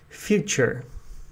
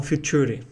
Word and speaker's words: future: Eu coloquei a palavra future, que é em inglês, né, e também é na primeira sílaba. Então é future e não future, né?